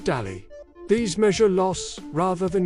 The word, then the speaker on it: DALY: The Disability Adjusted Life Year, or DALY, pronounced DALY.